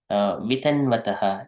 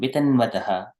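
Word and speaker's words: वितन्वतः: So here, Vitanvataha, it is Vitan, we need to pronounce Vitanvataha. When we do it prolongingly, it sound comes nice, but here, Yasyam Bhasi Sayanasya Yoganidram Vitanvataha. Vitanvataha. There is no prolonging here.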